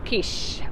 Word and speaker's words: quiche: THA quiche, it's pronounced quiche.